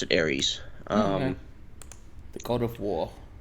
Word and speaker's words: Ares: We pronounce it Ares.